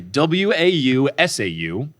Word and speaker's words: Wausau: There's just too many syllables that I couldn't track. Okay, WAUSAU.